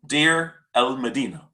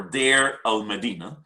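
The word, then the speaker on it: Deir el-Medina: have worked extensively on dear el medina or der el medina there are two different pronunciations for it it is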